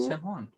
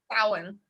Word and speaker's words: Samhain: How is the correct pronunciation? Samhain. Samhain. Damn it. There you go. But the most common way to say it would be what she said is Samhain.